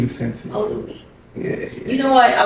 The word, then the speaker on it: Louis: It's here, and today we are talking about dating with a special guest, Luis Masensi. Did I pronounce that correctly? Yeah, close enough. Louis Masensi. Oh, Louis.